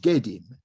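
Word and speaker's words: gidim: So in the Sumerian language, this is pronounced Gedim, as you can see here. Gedim is the Sumerian term for a ghost, and the Akkadian term is Etemu.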